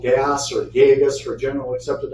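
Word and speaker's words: GAAS: auditing standards and yes the acronym for that is pronounced gas too um so those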